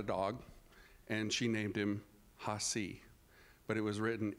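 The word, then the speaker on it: Hacee: So the verbalization of his name is Hasi. So that's spelled H-A-C-E-E, Hasi.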